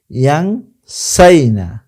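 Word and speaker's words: يَنْسَيْنَ: মিন বাবি সামিয়া ইয়াসমাউ ইয়াংসাইনা, ইয়াংসাইনা। লিল মুজাক্কার ইয়াংসাউনা, লিল মুআন্নাস ইয়াংসাইনা। এই উচ্চারণটা আপনাকে মনে রাখতে হবে। ইয়াংসাউনা ইয়াংসাইনা।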